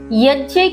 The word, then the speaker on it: यज्ञ: भावार्थ, यहाँ श्री कृष्ण यज्ञ की महिमा बताते हुए कहते हैं, यज्ञ अर्थात जिसे हम लोकाचार की भाषा में यज्ञ कहते हैं, उसी का सही उच्चारण यज्ञ है।